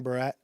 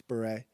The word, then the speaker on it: beret: She mispronounces a lot of words, but as soon as you like architecture or whatever the other words, beret, green barret, it's beret.